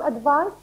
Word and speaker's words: advice: is a noun can you give me some advice here the pronunciation is advice it is announced for this